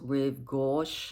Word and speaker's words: Rive Gauche: You know how the YSL totes, the canvas totes, I think it's pronounced Rive Gauche totes.